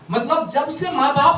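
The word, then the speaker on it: Psalm: साम लिखा होगा, साम। साइलेंट होगा।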